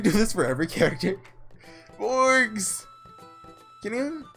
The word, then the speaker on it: Morgs: So from now on, I'm going to call you Morgs. M-O-R-G-S. With a hard G. Not a soft one.